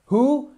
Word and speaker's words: who: Who, on ne prononce surtout pas le W. On ne dit pas who, on dit who.